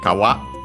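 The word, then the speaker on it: かわ: No, then we have kawa. uh we have seen before uh it means uh in this series uh it means a river uh stream an accent on the last syllable.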